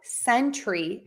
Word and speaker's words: sentry: and century great question so Sentry has two Beats Century has three beads so Century Century I